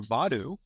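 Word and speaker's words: Vodou: and baby Dr valer and but voodooism or vadu uh Christopher Garland pronounced it in a different way something like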